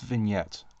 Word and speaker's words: vignette: do you say it I'm pretty sure it's vignette because the G is apparently silent the English language is very strange but it's just it's